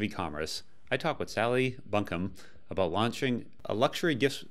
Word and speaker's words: Bunkham: it's quite a British name I think Sally Buncombe but yeah you've got it it's all good